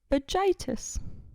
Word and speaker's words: vagitus: Word number 2 is vagitus. Vagitus. Vagitus. Do you need me to spell it out for you? Please. VAGITUS. Vagitus. Okay. Sounds like... Vagina. Yes.